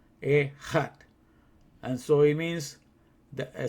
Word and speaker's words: Echad: So it's Echad. That's how you say it. Echad. Echad.